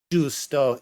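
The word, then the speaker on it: giusto: That's how it's spelled differently, but in the Italian language, that is Justo.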